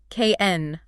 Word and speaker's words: can: It is unstressed. The vowel collapses into that tiny schwa sound we just discussed. It sounds like ken, i, n, go, n, help.